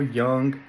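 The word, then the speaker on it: Jung: work which is Carl Young okay I'm sorry you guys I accidentally pronounced the Jay and I knew that from watching blow that that was pronounced young but my bad uh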